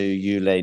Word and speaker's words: Jule: So it's Jule, by the way. No, you can teach me some pronunciation. It's Jule Niemeier, Jule. yeah, Okay. yeah, yeah. I was always reading I it think. Jule, I mean, I'm not German, no, but it's fine. I was always reading it Jule, but you definitely know better.